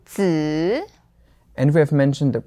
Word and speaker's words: 子: But here, the important thing was that this fifth tone, 子, is just an ending to make nouns.